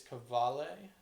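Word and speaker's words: Qvale: Is it pronounced like Cavale or Cavalli? From what I heard, it's Cavale Mangusta.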